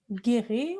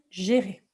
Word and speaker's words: gérer: Alors effectivement, d'habitude, le G en français, on va dire gué, mais là, si vous voulez, avec un E ici comme ceci, ça va se prononcer G.